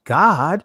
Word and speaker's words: Gad: justify it, like, hey, Gad, his name in Hebrew is pronounced God.